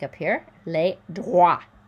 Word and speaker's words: droits: Okay, so garantir les, just like up here, les droits. So wa, that OI sound is like a W. We don't hear the T. We don't hear the S. Les droits.